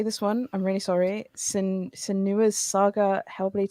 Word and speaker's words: Senua: Senua's Saga Hellblade 2. Is that right? Senua.